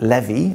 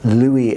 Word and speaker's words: Lewy: was first observed down the microscope by Frederick Levy or Louis as we pronounce it today it became known as the